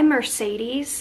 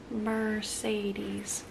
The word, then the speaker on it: Mercedes: I'm trying to figure out why Mercedes has three E's in it but each e is pronounced differently Mercedes alright so we are